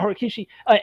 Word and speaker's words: Horikoshi: How do you pronounce the Horikoshi? Yeah, Horikishi.